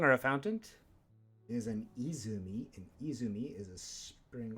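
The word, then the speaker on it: 泉: a fountain is an izumi an izumi is a spring or a fountain it's also a pretty heavily used name other pronunciation is sen help aid or a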